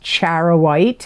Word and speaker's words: charoite: and wear in the month of July is charoite and that's spelled c h a r o i t